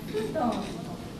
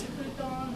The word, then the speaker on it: futon: In Japanese, there is no F sound. F is used to spell out the Japanese word, but it's not F sound.